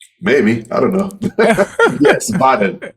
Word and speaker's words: Vaadin: Yeah, because it's called the double, like Double A. VAA, and I'm like Uh-huh. Vaadin.